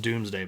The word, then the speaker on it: Domesday: It's spelled like Domesday. So it's spelled like that, but it's pronounced Doomsday Book, or Domesday Book.